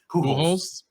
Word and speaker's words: Pujols: And Albert, never pronounced his name. Pujols.